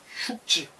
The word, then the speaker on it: 畜: 그 흉이라고 발음해요. 이런 거. 사람이 기르는 거 돌봐주는 거. 그래서 도라는 것은 낳아주고 그건 하나의 길이에요. 길. 걔가 직접 낳는 건 아니지만 덕은 흉지.